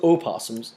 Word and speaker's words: opossum: Or opossums. It's spelled opossum. I know. But I've never met someone who pronounces it that way.